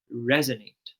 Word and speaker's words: resonate: So the stress should be on the first syllable where we say resonate.